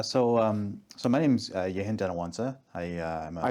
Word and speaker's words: Yehen Dhanawansa: So, um so my name's Yintawansa.